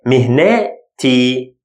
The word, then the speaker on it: مهنتي: But when it gets its shape, becomes te. مهنتي.